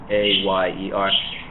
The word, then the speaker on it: ayer: And then the sound between vowels is basically a Y sound in English.